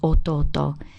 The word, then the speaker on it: 弟: prefix you just use auto followed by now it sounds like there's an honorific alt there but in fact it's part of the actual word now this character originally